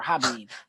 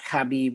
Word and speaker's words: Khabib: I don't know if it's Khabib or Habib. It's Khabib. Khabib. Anyway, I got him winning. I think both Greg and C-Mac agreed we got Khabib winning.